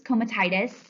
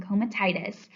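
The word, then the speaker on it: comitatus: The first is comatitis. So that's how you pronounce that one, comatitis.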